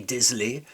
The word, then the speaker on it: désolé: So he doesn't pronounce the O in je suis désolé. I'm désolé. The O must always be pronounced in French. You can't say je suis désolé. That does not exist in French.